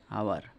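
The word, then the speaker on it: hour: 45, I shall be back in আওয়ার। দেখো আওয়ার এইচ দিয়ে শুরু হচ্ছে, কিন্তু যদি আমরা উচ্চারণ করি আওয়ার ও দিয়ে হয়, ও একটা ভাওয়েল, তো ভাই এন।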